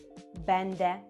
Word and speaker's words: będę: Я буду це бенде.